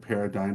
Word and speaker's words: paradigm: I hate the word Paradigm but there's no other gosh I can't believe you use that word what are you paradig um that's what it should be because the silent G is just but what's funny